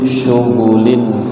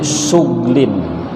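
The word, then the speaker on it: شغل: Ayat ini ada qiraat lain yang membacanya berbeda dengan yang tadi itu. Ada yang membacanya inna ashabal jannatil yawma fi syughlin. Waqaf di goinnya itu apa? Sukun, mati. Kalau di kita fi syughulin. Ada yang lain fi syughlin.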